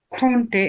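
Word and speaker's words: könnte: এবার তারপর আসি হচ্ছে আমরা খেনটেন এটার, আমরা করব। হ্যাঁ, ইস, ইস খন্টে, এটা কেমন করে ভাই উচ্চারণ করবো এটা একটু? এটা আমরা বলবো হচ্ছে খন্টে, জাস্ট উমলাউট যেভাবে আমরা উচ্চারণ করতাম, মনে আছে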